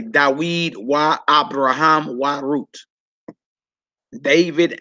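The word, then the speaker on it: דָּוִד: You would say Dawid wa Abraham wa Ruth. David and Abraham and Ruth. All right. How would you pronounce that?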